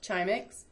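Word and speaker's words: Grzimek: animal world this is an incredible database called chimex even though it's grz it's pronounced chimic and you'll see that you can look up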